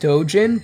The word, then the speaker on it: Dojun: It's actually pronounced dojan, but I'm going to stick with doojen.